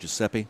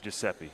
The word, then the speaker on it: Giuseppe: Joe massero yeah I mean he says it's pronounced Giuseppe Giuseppe yeah I uh everybody used to call him